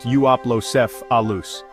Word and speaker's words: Euoplocephalus: Now let's check out the Euoplocephalus, pronounced Euoplocephalus.